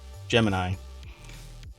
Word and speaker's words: Gemini: stuff oh they spelled Jiminy Jiminy they spell Jiminy gem thinking of Jiminy Cricket every time I know yeah that's why I said not jimin as in Jiminy Cricket Gemini yeah I'll have to